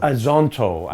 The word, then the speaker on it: Azonto: Did I say it right? You did, with an American accent. Yeah, I tried. But we say Azonto. Azonto.